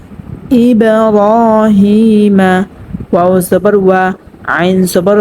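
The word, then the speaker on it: إِبْرَاهِيمَ: তো এখানে আমরা কলকলা করিয়া একটু ধাক্কা দিয়ে পড়বো, ঠিক আছে। যেমন ইব্রাহিমা, র একালি পরিমাণ টানিয়ে পড়তে হবে। জবরে বাম পাশে খালি আলিফ মদের হরফ হয়েছে মধ্যে তবাই, এবং জেরে বাম পাশে জজমাল ইয়া মধ্যে তবাই হয়েছে এখানেও, ঠিক আছে।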